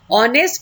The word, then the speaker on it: honest: नो, ऑनेस्ट की pronunciation ओ से हो रही है, वॉवल्स की साउंड आ रही है, तो हम उसके सामने भी क्या लगाते हैं?